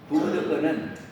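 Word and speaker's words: 구부득고: 쓰면 이렇게 불자 아니 불자를 써 놓고 부라고 읽었어요 왜 그래요 뒤에 자음이 디귿이 지그이 올 세는 불이라고 안 읽고 부라고 읽어요 부 불 듣고요 그런데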